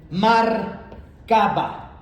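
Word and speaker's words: Merkabah: Ahora, el término hebreo para esta visión y ven que es una visión de la gloria de Dios es mar caba. Se escribe mar m a r e mar caba por mar o marcaba.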